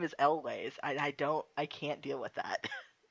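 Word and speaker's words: Elwes: I spent my entire fucking life calling this man Carrie Yules. How do you say it? It's Carrie Elways.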